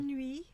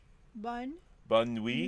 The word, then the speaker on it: bonne nuit: Bonne nuit. Bonne nuit. Nuit, mes amis. Bonne nuit, mes amis. That's pretty good. How's my accent? That was really good. Bonne nuit, mes amis.